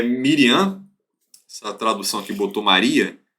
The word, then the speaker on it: Miriam: dela é miliano literalmente Miriam é um dos poucos nomes bíblicos se o hebraico é igualzinho o português tá porque iríamos com ele no final então a pronúncia Hebraica igual o português os poucos casos mas